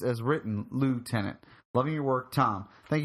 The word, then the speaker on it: lieutenant: versus lieutenant thing.